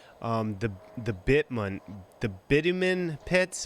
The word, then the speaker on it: bitumen: and gomorrah was um the the bittman the bitumen pits how do you pronounce that uh in english we say bitumen okay so um now i know this is